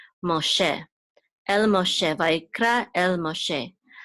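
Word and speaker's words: משה: And this shin goes with this go, which says and this hey is silent, so it goes together, she, Moshe, el Moshe, Vayikra el Moshe, which means, and he called to Moses.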